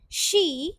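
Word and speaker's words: し: सा के बाद हम लोग सी नहीं यूज करते। ठीक है? जैपनीज लोगों के यहां सी नहीं होता। शी होता है। जैसे इंग्लिश में हम यूज़ करते हैं ना ही, शी तो आप इसको वही प्रोनाउंस करते हो शी।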